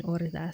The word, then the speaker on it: horda: The H is mute in orda, so it's pronounced orda like you said.